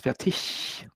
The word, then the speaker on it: Fertig: In proper German, it's Fertig, with he at the end.